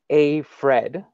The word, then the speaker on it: Aifred: While studying at McGill, Sonia co-founded a mental health care technology company, AIFRED, pronounced AFRED, I said it wrong, Health, where she works now full-time as Vice President of Strategic Funding.